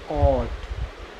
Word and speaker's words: caught: CAUGHT, तो इसमें GH silent रहेगा क्योंकि GH से पहले वोवेल्स आ गया, यू, देखो ये यू आ गया तो क्या पढ़ेंगे? इसे कॉट।